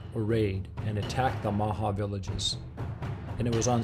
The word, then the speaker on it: Omaha: The Omaha, pronounced Maha, and Potawatomi had formed an alliance years earlier to fight and defend against their mutual enemy, the Sioux.